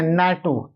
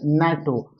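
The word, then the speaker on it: NATO: उसी प्रकार इसको एन ए टी ओ नहीं पढ़ते है नैटो क्या पढ़ते है? नैटो और नैटो कंट्री और न का साउंड है तो क्या आएगा?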